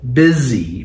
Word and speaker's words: busy: Busy. Pronounced with a Z.